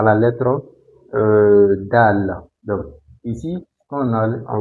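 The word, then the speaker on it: دال: Mais, si vous écrivez ça comme ça, sans le point, donc ça c'est dal.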